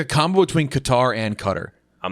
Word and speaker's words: Qatar: way that goes poorly pronounced cutter by the way also qatar yeah i'm gonna call it cutter though the official pronunciation i remember hearing was cutter and i was just like